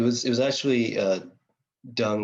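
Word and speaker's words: Deng: uh uh it was it was actually uh dung right like his name is pronounced dung but it's actually spelled D N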